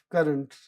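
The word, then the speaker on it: currant: Now also just to digress a little bit over here the pronunciation of current C u r a n t is the same as c u r r e n t.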